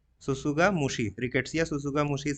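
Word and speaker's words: tsutsugamushi: agent इसका क्या rickettsia ससुगा मुशी देखिए टी दोनों जगह साइलेंट रहेगा ससुगा मुशी रिकेट्सिया सुसु मुस का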